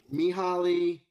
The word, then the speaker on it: Mihaly: It's Mihaly Mihaly, yeah. Mihaly Ch- Csikszentmihalyi. How do you spell that?